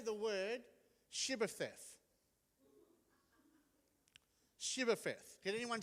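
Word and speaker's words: Shibboleth: They said, "Can you say the word shibth?" Shibth. Can anyone say that? Perfect. Ephromites couldn't say that because they couldn't pronounce the H. So instead of Shibth, they'd say Cibbeth.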